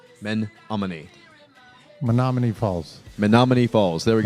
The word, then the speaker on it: Menominee: Well, first off, Menominee is pronounced Menominee. Men-amo-e. Menominee.